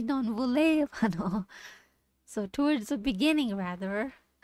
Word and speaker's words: non volevano: You see how when I say it, it's non voleva. That stress is on va, but that's wrong. That's when I'm doing it. That's my natural way of thinking. Oh, non volevano. But that's wrong. It should be non volevano.